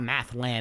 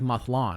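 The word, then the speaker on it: Mathlann: god is it pronounced mlon m a t h l a n but it's not math it's not math land it's like mlon right mlon mlon yeah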